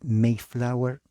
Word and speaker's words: Mayflower: lo que se llama el documento mayflower así se pronuncia la a e en inglés mayflower compact Acá hay un